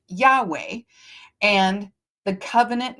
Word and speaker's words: Yahweh: aa becomes Yahweh the YHW right which they pronounced Yahweh and the covenant name of God in Hebrew traditions moving forward.